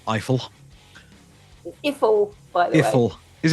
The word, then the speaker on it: Eiffel: I'm going to say it like trifle, Eiffel.